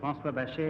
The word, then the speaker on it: François Bachet: My name is François Bachet, and I'm from Paris in France. Francois Bachet, Bachet, first syllable, from Paris.